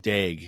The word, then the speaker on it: Daigle: Dag. Definitely not Dangle. Yeah, Daigle. It's just drafted pronounced Dag.